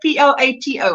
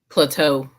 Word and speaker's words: Plato: Plato. How would you pronounce that? Plateau.